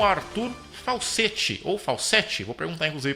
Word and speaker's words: Falcette: então nós vamos conversar ao vivo com o Arthur Falsetti, ou Falsetti, vou perguntar inclusive para ele agora se eu falei o nome dele correto. É Arthur Falsetti ou Falsetti? É Falsetti, bom dia, mas tanto faz, eu